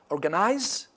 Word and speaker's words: organize: Organize. It's on the first.